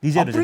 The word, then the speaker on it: 니제르: 니제르죠, 니제르. 라틴어식으로 발음하면 이제 니게르사우루스가 되는 건데 머리가 되게 특이해요.